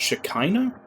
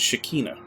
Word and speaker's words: Shekinah: vanishing the shekinah glory is unraveling it's pronounced shekinah i always thought it was shakina as they're pronouncing it was um like the